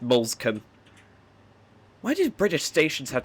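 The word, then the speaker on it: Moulsecoomb: Looks like it should be pronounced Molescombe, but it's just Molescombe.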